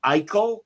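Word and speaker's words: Icle: And uh you're right uh Ian, he was born Burl Eel or it's it's spelled IC L.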